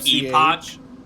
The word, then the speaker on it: epoch: do I spell that Epoch uh you mean Epic no Epoch I'm saying it the the British way oh okay e p